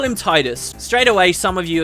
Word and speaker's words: Tidus: Thematically, this character's got like a lot to do with water, and they say that the name is supposed to resemble the word tide, so it would be Tidus to me.